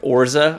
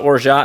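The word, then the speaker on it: orgeat: I think the I think the actual pronunciation is like Orza or something like that, but it's spelled o r g e a t. So I've I've just always called it orot and I've heard other people call it orot.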